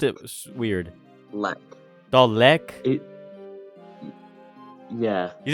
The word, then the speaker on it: Dalek: Dalek?